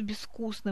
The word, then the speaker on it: безвкусно: В слове «безвкусно» мы пишем букву «з», а произносим глухой согласный «с».